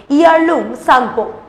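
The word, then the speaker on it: Yarlung Tsangpo: চীনে ব্রহ্মপুত্রের নাম তিব্বতী ভাষায় ইয়ারলুং জাংবো। কেউ উচ্চারণ করে ইয়ারলুং সাংবো।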